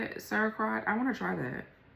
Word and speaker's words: sauerkraut: wine, cheese, kombucha or whatever, beer, liquors, kamichi, sarcrot and cheese. This is when a substance turns into an entirely different chemical from over time. I want to try the um that's how you say it, sauerkraut.